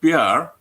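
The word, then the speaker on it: pyar: called pr but spelt a little bit differently it's spelled p-y-a-r and it's not an acronym it's just the word pr which means love it means love in in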